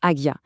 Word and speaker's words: Ajna: La réponse à cette question, c'est adjna. On le prononce agia.